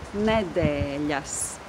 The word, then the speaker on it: nedēļas: So the last syllable is yes, and there is that consonant with a little comma underneath. Yes, yes. But the syllable that precedes the syllable yes is de, de, with the long vowel e, de, yes, de, yes.